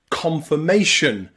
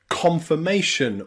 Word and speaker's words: confirmation: iron and Ireland okay finally we have i and r pronounced as the schah in words like confirmation confirmation or respiration in confirmation and respiration it's pronounced as awah because it is not stressed remember the schw sound is never stressed so confirmation confirmation confirmation